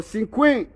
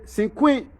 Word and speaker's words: Cinque: noam asked joseph cynic before they pronounce that last name they write c-i-n-q-u-e or sin queen and one thing i